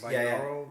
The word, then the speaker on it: binaural: Binaural Yep.